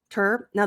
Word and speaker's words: turn: got the tur tur now the u sounds like an e so tur not to but tur so here you want to look at my lips um a lot of you might do o bring the lips back think of t r tur turn turn turn down good and